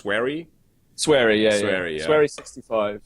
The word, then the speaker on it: Swery: yeah, the Fork Parker interaction with is his nickname pronounced Swery? Sweary, yeah, Sweary, yeah.